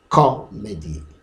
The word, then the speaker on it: comedy: The stress is on the first syllable.